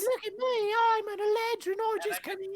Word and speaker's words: Eladrin: Like not throw it at him, but like shove it forcefully across the table at Relic and be like, it's pronounced Eladrin, and I'm gonna like grab the rest of my food, get up, and walk away.